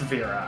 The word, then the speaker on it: Vera: Vera, it's Vera, I don't know. The dev said that that's how it's pronounced.